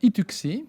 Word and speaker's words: Itucci: Robert Ituxi, ça se prononce bien comme ça?